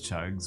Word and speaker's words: Cug: the opposite of this chugs with that name. Yeah. When we do the devil cat or devil chugs, we can call him Cug. It pronounces chug. Oh. As the U is deeper.